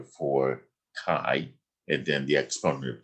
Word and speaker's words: chi: distribution okay and c-h-i is the greek letter pronounced chi and now the main concepts are these we're